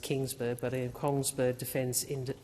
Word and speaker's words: Kongsberg: in partnership with Kongsberg, I think it's pronounced Kingsburg, but in Kongsberg Defence in Australia.